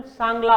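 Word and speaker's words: Tshangla: उनके लैंग्वेज को यहाँ पे चांगला, इसका प्रोनाउंसिएशन सांगला होगा, ठीक है, सांगला, ठीक है, CHA वाला होगा पर लिखा ऐसे जाता है।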